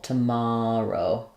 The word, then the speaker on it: tomorrow: the word tomorrow uh we have the stress on the mar syllable tomorrow um and again here